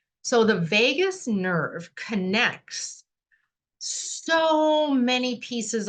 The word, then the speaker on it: vagus: So let's talk about the vagus nerve. Spelled a little different than Vegas, like what happens in Vegas stays in Vegas. Pronounced the same. So the vagus nerve connects so many